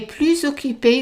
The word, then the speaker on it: plus: So notice that we are doing the liaison between these two words and the S is pronounced as a Z.